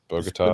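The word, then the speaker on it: Bogotá: Medie, but I flew through uh Bugatta. Is that how you say it? Bogata.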